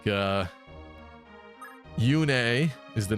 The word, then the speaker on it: Yune: Um, but in Fay they say Yun. Now I guess Yune sounds a little goofy to be like a a god a little bit, but that was the original pronunciation, so it's hard to get past that. But it's weird going from Yune to Yun.